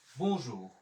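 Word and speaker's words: bonjour: এরপরে আমরা জানি ও এন আছে বর্জাত্রী হচ্ছে উ, ও ইউতে বর্জাত্রী হচ্ছে রস্যকার, তাহলে আমার এখানে উচ্চারণ হয়ে গেল বু জুর, বনজুর, বনজুর, তাহলে তুজুর এবং বনজুর।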